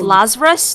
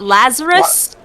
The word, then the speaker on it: Lazarus: fine um I mean it's pronounced Lazarus not Lazarus yeah Lazarus yeah ah